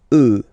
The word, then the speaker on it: œufs: Then, un œuf, des œufs. Okay, and we'll make the liaison here to make it sound more beautiful. Des œufs, all right?